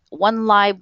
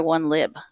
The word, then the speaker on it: 1Lib1Ref: a discussion about this is it one live or one lib pronunciation hi so this is Alex Stenson I work at the wik media Foundation support the Wikipedia Library program and one Li one I call it one Li one ref uh one live one